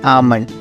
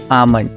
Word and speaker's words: almond: हैं क्या कहते हैं आमंड अब आओ आमंड की स्पेलिंग देख लेते हैं ए एल एम ओ एन डी आमन बच्चा ध्यान रखना इसमें एल साइलेंट है ठीक है ना तो